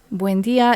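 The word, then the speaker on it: Buen día: Buen dia is Southern Cone, Argentina, Uruguay. Now spread across the Spanish-speaking world. 3 syllables rather than 4.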